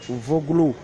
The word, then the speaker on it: Woglo: bien le fait que comme si le W initiale de son nom élevé était prononcé à l'Allemand c'est ça il savait que en allemand le W se prononce V oui comme le fait Wolf si ça alors par